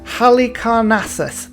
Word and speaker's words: Halicarnassus: Halicarnassus. There we go. That's how you pronounce it.